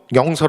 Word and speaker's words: 영서: 그지 우리가 뭐라 그래 2 법칙 이라고 하잖아요 그래서 우리는 발음을 영동 영서 라고 발음하지 그 다음에 택 완력에